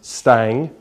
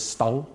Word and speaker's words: Stang: I've got a very Scottish first name, being, but my surname is, I pronounce it as Stang, but I think the more correct pronunciation is Stang.